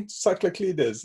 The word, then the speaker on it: Tsakraklides: Tell me, Tsakraklides, is that right? That's pretty good, actually. You've got the whole rhythm. Okay. There's a rare sound in it.